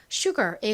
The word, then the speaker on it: sugar: 나고는 기억 소리로 쓰였죠 AR 소리가 나니까 Sugar이라고 발음이 됩니다 그런데 한국식으로는 보통이 단어를 슈라 표기하지 Sugar의 의미는요 설탕을 의미하는 단어죠 자 자 다음 단어